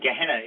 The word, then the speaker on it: Gehenna: The word most often used in the New Testament for hell is Gehenna. That's the way it's pronounced. It's Ghenna is the way it's written in English, but Gehenna is the word.